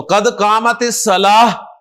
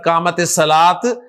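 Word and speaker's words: قد قامت الصلاة: तो कदमत सलाह हा के साथ प्रोनाउंस करें कदमत सलाह ना के कद का कामत सलात कमत सलात तो माशा्लाह आप कुछ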